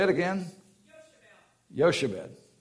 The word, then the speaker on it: Jochebed: Yoshebel. Yeah, that wasn't how I pronounced it, but we'll take your word for it. Say it again. Yoshebed. Yoshebed. J-O-C-H-E-B-E-D.